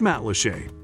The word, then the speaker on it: Matlacha: Pronounced Matlacha.